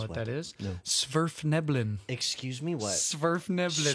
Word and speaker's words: Svirfneblin: Svirfneblin. Excuse me, what? Svirfneblin. Smurfneblin? No, Svirf. Svirf. Neblin.